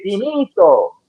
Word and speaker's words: finito: You cannot say finito like that. You should be glad both my grandmother and my father have passed on, because if they heard you mispronounce an Italian like that, they'd be like, what is wrong with your ass? You don't say it like that. We say finito.